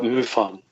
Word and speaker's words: MUFON: Did I pronounce that correctly? Oh, that's right, MUFON.